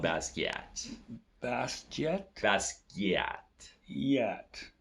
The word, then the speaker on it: Basquiat: Jean-Michel is French, so he'd be like from Haiti, I believe. So it's like Jean-Michel Basquiat.